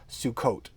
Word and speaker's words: Sukkot: is the Sephardic pronunciation, which has the hard t sound at the end of words. So, for instance, the Sabbath is Shabbat. Sukkot, the festival of booths is Sukkot.